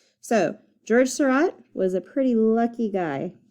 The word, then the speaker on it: Seurat: So I'm going to do this on this flower, and I'm going to continue the story of George Seurat, the guy whose name rhymes with dot. So George Seurat was a pretty lucky guy, and I'll tell you why.